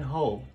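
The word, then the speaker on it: whole: And then hole. You don't pronounce the W, so it's the dot.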